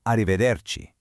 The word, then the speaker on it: arrivederci: While ciao works perfectly for your friends, polite daytime goodbyes actually require arrivederci. To pronounce it properly, just remember that the C at the very end sounds just like a key in English.